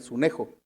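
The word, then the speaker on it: συνέχω: Y la palabra constriñe se tradujo del griego sunejo, con acento en la E, sunejo.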